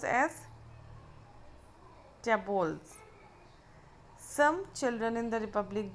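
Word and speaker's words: tableaux: The plural of टैब्लू is tabular, pronounce as tables.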